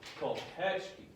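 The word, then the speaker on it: колпачки: Okay, we want to go ko, pet, key. And it's ko, pet, key. So the key is the least important syllable. The petch is the most important. The ko is the second most important.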